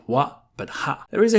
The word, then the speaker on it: は: When ha is used as a particle, it's always going to be pronounced wa.